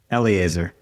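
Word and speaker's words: Eliezer: But what I do know is that how do you pronounce his name? Elitzer. Eli Eleazar.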